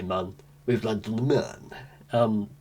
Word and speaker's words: Mun: Jeb and Bill have landed on the moon. Somebody told me it's pronounced moon. I do speak German. The umlaut on the U is like, yeah, fair enough. But I mean, I'm still going to say mun.